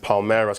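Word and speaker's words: Palmeiras: there's a bit more quality in Porto and Palirez compared to Inter Miami and Al Ali. That's how you pronounce it.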